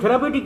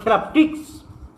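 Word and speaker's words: therapeutics: উচ্চারণ থেরাপিউটিক নয়, আসল উচ্চারণ হলো থেরাপটিক্স।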